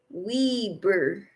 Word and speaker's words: Weber: some shepherd's pie for supper Michelle says it's pronounced Weber State University it's the big college in Ogden